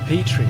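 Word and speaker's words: Petrie: Petri.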